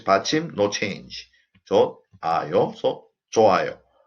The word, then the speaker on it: 좋아요: 좋아요, so 좋아요, 좋아요. When 받침 흐 meets circle, 흐 is omitted because 흐 is the weakest consonant.